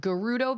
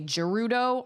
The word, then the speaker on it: Gerudo: I always pronounced it Gerudo Valley, but I've heard people say Gerudo. I think it's Gerudo though.